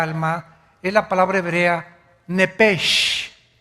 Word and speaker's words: nepesh: Esa palabra alma es la palabra hebrea nepesh, así como suena N-E-P-E-S-H, nepesh. La palabra, la letra o las letras S-H en el hebreo se pronuncian en hebreo como J.